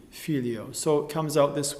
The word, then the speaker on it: Filio: little white note for the accent of fi, Filio. So it comes out this way: Gloria Patri et Filio, fi being that little white note, as an example.